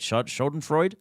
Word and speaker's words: Schadenfreude: Schadenfreude?